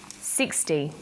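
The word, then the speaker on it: sixty: Usually the first syllable in a number is stressed. 16, 60. Notice that it's the final N in teen that you have to be careful with.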